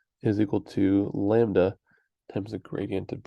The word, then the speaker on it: lambda: is the Greek letter Lambda which is written like that like you go a downstroke diagonal and then there pronounced like lamb duh Lambda and uh spelled more